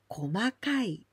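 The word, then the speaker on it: 細かい: And if there's kai, then we pronounce komakai.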